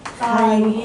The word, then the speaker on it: sin: 그럼 이제 삼각비를 얘기할 건데 삼각비 3개 중에 첫 번째 게 SIN으로 쓸 건데요. 사인이라고 읽어요. 그냥 사인, 코사인.